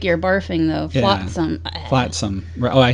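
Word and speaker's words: Flotsam: to the car section believe me and uh flaton and oh that's it it sounds like you're barfing though flatsome flatsome oh I said it wrong but yes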